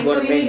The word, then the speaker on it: gorden: Nah Gordeng, guys. nah, hordeng tuh itulah kayaknya mungkin di Depok Tirai. Tirai lah ya. Ini ya. Gordin. Iya, Gordin. Gordin. Tirai, Gordin, hordeng. Bacanya apa sih sebenarnya? Gorden. Gorden. Nah kebetulan si kamar nenek